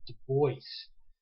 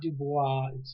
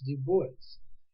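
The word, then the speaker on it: Du Bois: like a GU State Compton that's how you pronounce it you'll see a guy by the name of w eb de voice it's not de bois de voice and what it really gets me that even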